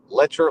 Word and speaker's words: Letcher: cause to believe that lecher like Fletcher well I guess there